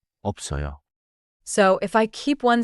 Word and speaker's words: 없어요: FTH smooth the link 있어요. sounds like 있어요. like like 없어요.